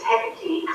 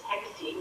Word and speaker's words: Hecate: So county was there, county council was there, it's Hecate, so we all need to learn to pronounce this properly. It's Hecate, know your enemy.